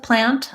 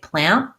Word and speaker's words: plant: Sometimes with plant, I'm going to really say that T, but you again might be hearing that Americans will say plant, where we don't really release that T.